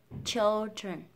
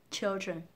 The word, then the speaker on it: children: Và âm dr, dr sẽ đọc là dr, undren, children. Trong âm chính rơi vào âm tiết đầu tiên, các bạn sẽ nhấn mạnh vào children, children.